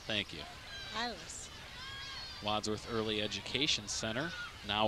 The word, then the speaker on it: Iles: Secretary Ramona Zimmerman and volunteering mom Emily Iles is how it's spelled. Iles. Thank you. Iles.